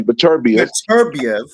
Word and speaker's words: Beterbiev: Let me pronounce his name correctly. Beterbiev and Bivol.